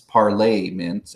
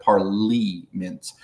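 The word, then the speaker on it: parlements: the court system and it's spelled as Parliament's parlay mints instead of parley mints like Parliament was with an eye the French have parted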